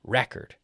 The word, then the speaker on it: record: So as a noun, the record, record. So with when we put the stress on the first half, record, it's the noun.